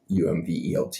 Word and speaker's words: Umwelt: It's the Umwelt, the Umvelt, I think it's spelled there, the Umwelt.